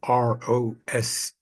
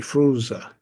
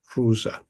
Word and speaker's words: Froese: often mispronounced Ros or fuz but actually fza edar fza so just want to straighten that out that's the actual German pronunciation so although the late